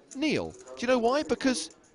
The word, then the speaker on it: Niall: And get to the fact that Niall is the Gaelic spelling of the name Neil, and is traditionally pronounced Neil.